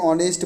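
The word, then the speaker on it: honest: चिन्ह करेंगे आगे देखो ऑनेस्ट ब्वॉय इमानदार लड़का का वह एक का कराया तो 19 के बताए थे यहां पर साइलेंट है वह का उच्चारण हो रहा है तो एन का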